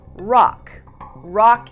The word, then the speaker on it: Roch: he was calling himself rock is the English pronunciation for Roche which is spelled r-o-c-h so now he's Rock